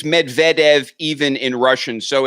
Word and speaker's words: Medvedev: being correct when you advise me about name pronunciations a few times you've let me down it's Medvedev even in Russian so it's I was doing